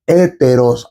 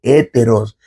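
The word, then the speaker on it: ἕτερος: griego hay dos pronombres pronominales indefinidos, que son héteros, h, e, t, e, r, o s, héteros y alos.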